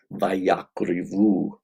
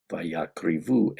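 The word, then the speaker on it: וַיַּקְרִיבוּ: The one difference is that in the Masoretic text, it's spelled Vav, Yod, Kuf, Resh, Bet, Vav, Vayakrivu, and that the E sound here is with a hirik, Vayakrivu.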